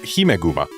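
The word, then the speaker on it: ヒメグマ: Whereas in Japanese, we've got Himeguma, which is, well, Guma, if there was no vowel before it, it would be pronounced Kuma, and it would just be bear.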